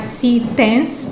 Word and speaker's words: CTense: Nós estamos a pronunciar Citens, porque o C é da forma como se pronuncia em inglês.